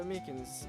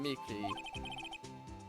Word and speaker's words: Meekins: Actually, Officer Meekins at the detention center told us. Ah, that poor little doggy. Poor guy, I keep getting his name wrong and calling him Mickey.